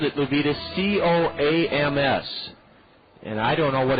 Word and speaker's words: COAMS: It's spelled capital C-O-A-M-S, and it's COAMS.